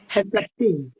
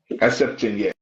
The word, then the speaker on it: Herceptin: How do you pronounce? How do you say, doctor? Herceptin. Herceptin, yes.